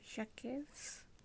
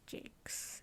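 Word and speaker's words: Jacques: of red wall so for years i always thought the author's name was brian jacobs it's actually brian jakes if no one knew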